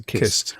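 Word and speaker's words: cist: Well, kissed, spelt with a C or a K, and even when it's spelt with a C, it's pronounced as a kissed.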